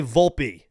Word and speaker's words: Volpe: he's going by Volpe I originally was saying Volpe for a while because again as someone with an Italian Heritage I I feel like it's volpei but I'm not going to tell another man how to say his last name so again it's it's Volpe so I don't know